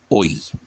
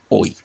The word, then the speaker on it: hoy: La palabra hoy del séptimo verso es un diptongo, hoy, hoy, el acento sobre la O, y la Y queda suelta.